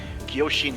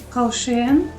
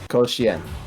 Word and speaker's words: Koshien: bound for the big Kyoshin tournament. Koshien? That's right, Dia. Good work. Koshin? Alright. Koshien. Just pronounce out each individual vowel.